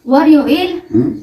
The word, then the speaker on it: 월요일: 월요일, Waryoil. Monday, Waryoil. Tuesday, 화요일, Wayoil. Wednesday, 수요일, Soyoil. So, iba talaga mag-pronounce yan, diba?